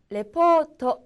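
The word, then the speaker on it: レポート: 먼저 , " repōto" 입니다 . "repōto" 는 보고서 또는 서류 를 의미 합니다 . " 레포토 " 에서 " 포 " 를 길 게 발음 하도록 주의 해 주세요 .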